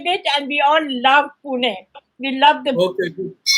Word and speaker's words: Pune: And it's no longer Pune, it's Pune. No. Yeah. We are teaching the English how to pronounce the word correctly.